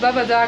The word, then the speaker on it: Babadağ: chúng tôi phát âm Babadağ sai vì tôi nghĩ rằng nó có thứ trên chữ g thì không nghĩa là chữ g im lặng và chữ cái đứng trước chữ cái đó được kéo dài nên